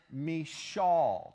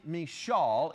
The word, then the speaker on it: Michal: see it's not really Michal, it's more like Michal. It's like you're clearing your throat when you say her name.